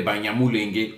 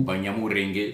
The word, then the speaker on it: Banyamulenge: à la mode aujourd'hui, comme des Banyamulenge ou Banyamurenge selon la prononciation des uns et des autres.